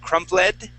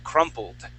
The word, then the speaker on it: crumpled: Okay, remember we're going to jump right from that L sound to the D sound. And we wouldn't pronounce that E. Okay, you had said crumpled. The word would be crumpled.